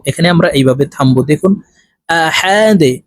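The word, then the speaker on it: أحد: ডাল দুই পেশ দুন আহা দুন ডালকে ওয়াকফুর ক্ষেত্রে সাকিন করে ফেলবো তো এখানে আমরা এইভাবে থামবো দেখুন আহাদে ডাল যেহেতু কলকলার হরফ নিচের দিকে ধাবিত করে ধাক্কা দিয়ে উচ্চারণ করব আহাদে আপনারা আমার সঙ্গে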